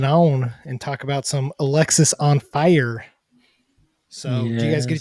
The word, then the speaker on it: Alexisonfire: for those out there it is pronounced Alexis on fire not Alex is on fire it's not Alex is